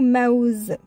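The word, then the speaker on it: موز: Mais cette fois qu'on peut le prononcer, au milieu de mots, on va trouver le mot maouz. Maouz. Ma. Là, on a bien mis harakat sur waw. Ça fait maouz.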